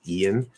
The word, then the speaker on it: Ian: i saw is like the name ian ian ian will be pronounced exactly the same as an or almost the same